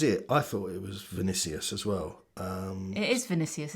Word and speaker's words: Vinicius: I keep getting the N and the C mixed up, and it might even be rude, I don't know. Vinicius rather than Vicinius.